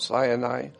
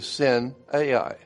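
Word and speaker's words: Sinai: God met with his people at mount sani. But mount cyani is actually sin ai.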